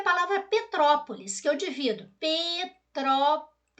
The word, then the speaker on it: Petrópolis: Petrópolis que eu divido Petrópolis a sílaba tônica é a antepenúltima ela é proparoxítona mas eu já tinha